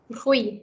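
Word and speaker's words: huit: Then this here is T silent. What should it be pronounced? Hui.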